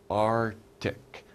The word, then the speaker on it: Arctic: already talked about it it's called the Arctic are tick we don't say really we don't really pronounce that see we don't say Arc ticked